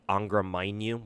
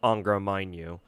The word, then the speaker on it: Angra Mainyu: His name is, how do you pronounce it? Angra Mainyu.